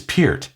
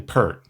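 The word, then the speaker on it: Peart: We never said Pier. I try to force myself now, but I didn't hear P. That is the way to say it. I didn't hear P until like 3 years ago. Pier P. Pier is the correct pronunciation, right?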